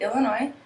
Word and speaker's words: Illinois: Minnesota Minnesota Wisconsin Wisconsin Illinois Illinois there's actually a silent s on and some people pronounce it but some people say Illinois um Indiana Indiana Michigan